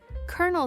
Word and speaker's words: colonel: The R is invisible. Like magic. Colonel sounds like kernel. Like popcorn. Colonel.